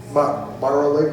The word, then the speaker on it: Mara Lake: Mara Lake, did I pronounce it? Yeah.